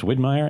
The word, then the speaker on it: Widmyer: We always say it sounds like a German beer company, like Widmyer and Kolsch.